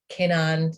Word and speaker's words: Keinan: Keinan? Keinan is how Americans pronounce it. It's actually Keinan, if you want to be.